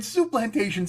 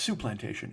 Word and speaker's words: Soup Plantation: I think I'm putting the emphasis on the wrong syllable there. It's Soup Plantation. It's not Soup Plantation. That sounds because I think, let's put it this way, when they name that restaurant, I don't think they want accent on the word plantation.